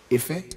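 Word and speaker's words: ìfẹ́: The Ife. Word Ife.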